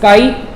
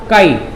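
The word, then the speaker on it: χ: अब mole fraction is represented by this thing, this is नॉट x, this is काई। क्या pronounce करते हैं बेटा जी इसको हम? काई। क्या प्रोनाउंस करते हैं? बोलो बेटा जी, काई।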